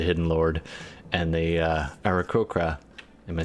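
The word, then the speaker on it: aarakocra: sort of the hidden lord and the uh arachokra am i saying that right said it right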